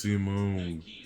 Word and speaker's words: Simon: would lead his last age 21 height 62 digger supreme commander pilot hermit pronounced Simone is a gun in the universe inspired by